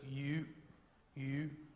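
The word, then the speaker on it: 玉: character for Jade and it's pronounced something like this you you and it's a really hard thing for me to pronounce I have I have to make my mouth look a little bit like a fish you know something like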